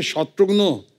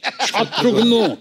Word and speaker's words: शत्रुघ्न: मिसाल के तौर पर मेरे बंगाली फ्रेंड अभी तक मुझे कहते हैं कि रे शत्रुघ्नो कैमन आशीष, शत्रुघ्नो डॉक्टर नो का भाई बना दिया।